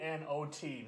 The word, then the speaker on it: knot: K N O T. Not. Spell the K. Say it like it's not there.